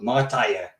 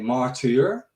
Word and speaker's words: Martyr: a martyr is that every country pronounces it different and even within the netherlands it's differently pronounced as well so from my hometown we play we talk with a little accent we call they call it martija you know but in germany they always say martyr yeah and it's smarter